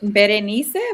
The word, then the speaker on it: Bren: It's Bren, but B is okay. I was gonna do it, but then I thought you guys would think I was doing the most. Bren, I like to say it correctly.